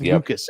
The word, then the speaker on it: Lukes: Ernie Clement and Nathan Lukes, which is pronounced Lucas, actually, we've learned, but man, they were excellent.